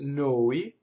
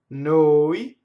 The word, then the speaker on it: noi: And then the word for then, which looks like it rhymes, is P-O-I, and now it's open, poi. So, noi, voi, poi. So those three words do not rhyme.